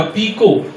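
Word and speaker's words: picot: Detail में बताया है कि टी जो फ्रेंच वर्ड होते हैं उसमें साइलेंट होता है। जैसे मैंने बोला पीको, तो पीको की स्पेलिंग है PCOT, वो टी साइलेंट है।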